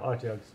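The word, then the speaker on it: Otyugh: Utgas? Yeah, how do you say them? Okay. Yeah, Otjugs, yeah.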